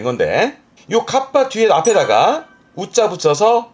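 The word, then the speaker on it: 合羽: 발음이 좀 특이합니다. 카빠. 카빠. 하에서 발음이 파가 돼서 카빠가 된 건데 카빠라는게 날개를 합쳤다는 뜻인데 요러 그림입니다.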